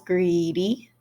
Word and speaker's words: greedy: So, I've given you your syllables, greedy. I've given you how it's pronounced, Greek, long E sound at the beginning and the end.